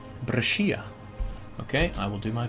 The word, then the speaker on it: Brescia: The Skia part is pronounced like Shia. Brescia.